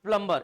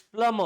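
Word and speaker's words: plumber: इट इज नॉट प्लम्बर, इट्स प्लम्बर। What is इट? प्लम्बर। B silent है, B silent है, और आर को उच्चारण तो अपन आधा ही करते हैं।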